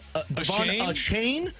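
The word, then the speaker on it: Achane: with most dirt and what did he say he wanted to be pronounced as a chain yeah I'm not Devon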